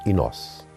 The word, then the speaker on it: Inos: E eu aí percebi, Inácio, pronunciado à micalense, é Inos.